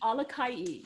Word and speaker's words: Alakai: and Walter's last name, Alakai. Am I pronouncing it correctly? Alakai, yes.